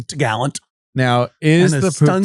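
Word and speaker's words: topgallant: And the top mast is called the top gallant, but they call it the t'gallant.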